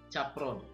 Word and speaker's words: Capron: Horace kalau bacanya Capron.